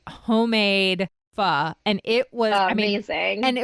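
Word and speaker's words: phở: for dinner every night for the rest of your life what would it be going to go with f from from Vietnam a lot of Americans say fo but it's actually said f yes so one of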